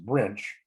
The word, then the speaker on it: Brynch: we didn't sleep very well last night the watch was out there and we went out about 1am later captain brynch pronounced branch came out gee he's